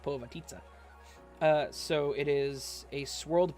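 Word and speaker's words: Povitica: Pavitica, that's what it's called. Or Pavatisa? Dude. Povatitsa is what it's called. Haha, it even says it's pronounced Povatitsa.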